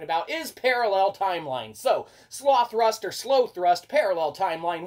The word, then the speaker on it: Slothrust: try that's right so it's either uh you know sloth rust uh or it's gonna be uh slow thrust uh you know point of it is uh it's spelled s-l-o-t-h-r-u-s-t so sloth rust we kind of like that but it's probably slow thrust but it doesn't matter